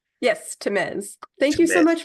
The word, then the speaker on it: Tamez: Yes, Tamez.